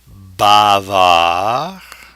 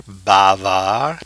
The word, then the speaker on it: bavard: Bavard, Notice the silent D, the French are there. Bavard, but now the E will force the pronunciation of the D.